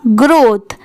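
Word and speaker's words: growth: यहाँ पर TH की साउंड थ की आ रही है, दोनों मिला देंगे तो क्या हो जाएगा, ग्रोथ।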